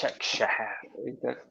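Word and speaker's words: Başakşehir: So yeah, just to answer your first point, Istanbul Basaksehir is the correct. Basaksehir. Nice little Urdu twang to that. Yeah. It's the correct Turkish pronunciation also.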